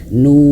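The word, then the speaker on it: نون: Nah, dan ingat huruf nun itu dia ee memiliki cara bacanya itu dialirkan sedikit nun. En an. Nah, sedikit seperti itu ya. Jadi bukan hanya sekedar nun. Nah, tidak terputus suaranya tapi mengalir sedikit huruf nun itu ya.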